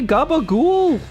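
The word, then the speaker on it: capocollo: It's like, if you look at it, like the way it's spelled, it's like Capicoli, but they say Gabagool.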